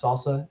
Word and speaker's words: SLSA: a a framework called supply chain levels for software artifacts pronounced salsa slsa again it's based